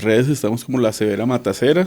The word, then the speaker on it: La Severa Matacera: En las redes estamos como la severa matacera se escribe con C. Es no Matancera, es matacera.